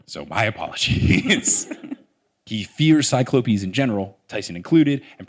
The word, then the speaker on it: cyclopes: in general and I now have learned that cyclopes is the proper way to pronounce it shout out to the earlier episode